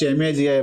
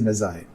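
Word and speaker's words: Magi: Don't pronounce maji maggi. It is messai.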